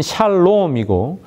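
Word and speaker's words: שלום: 평화 평화는 샬롬이고 집을 하다는 샬렘이라고 발음합니다.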